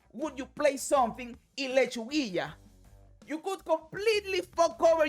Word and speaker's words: Lechuguilla: And I don't know how you pronounce that bullshit in English, but in Spanish it is Lechuguilla.